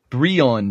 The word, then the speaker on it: Brion: Brion James. Oh. Byron? But the R's? Oh. That is spelled weird.